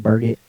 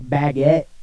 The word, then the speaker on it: Burgett: sure i mean it my last name looks like burgett but it's not that fancy i promise it's just burgett that's it you don't pronounce it or i was just i'm your yeah some people do and i'm like ooh you get fancy on me like baguette yeah i don't know